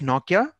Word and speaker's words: Nortje: It's Nokia, Yeah. Yeah, Nok, Nortje. but Yeah. I heard somewhere that it is almost spelled like Nokia. Yeah, it's It's spelled as pronounced that way.